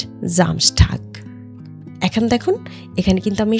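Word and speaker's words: Samstag: এর সঙ্গে একটা কনসোনেন্ট ব্যবহার হয়েছে তাই এসটার উচ্চারণ হবে স এর মত স্টার্ট হয় এস জামসটাক এখন দেখুন এখানে কিন্তু আমি সামসটাক পড়িনি সামসটাক পড়িনি এখানে আমি পড়েছি জামস্টক জামটাক কেন কারণ এই এসটা যখন এসটার সঙ্গে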